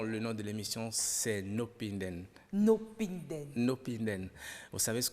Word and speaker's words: No pinden: le dire non le nom de l'émission C'est nopinden nopinden nopinden vous savez ce que ça veut